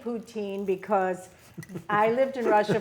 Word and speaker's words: Putin: And let me explain to the audience that I say Putin because I lived in Russia for 4 years, and that is how they say it, Putin, not Putin. And I like the pronunciation Putin, and I will continue to say